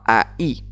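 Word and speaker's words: ahí: Donc Aï, attention, AI se prononce bien AI, hein. On fait bien la différenciation, il y a la séparation, il y a un H.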